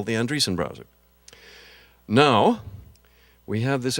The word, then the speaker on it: Andreessen: upstart named Marc Andreessen I once asked him if his if he pronounced his name Andreasen in linga in the Norwegian manner and he said no I'm from the Midwest we do things simply they're a very telling